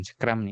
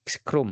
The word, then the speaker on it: Scrum: Bacanya pasti bukan scrum nih scrom ya scrom ya.